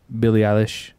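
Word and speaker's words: Billie Eilish: you you know uh billy alice is how you say her name yeah yeah english so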